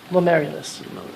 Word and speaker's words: glomerulus: Geomillers or Glomerulus. I think that's what you meant to say. How do you pronounce it?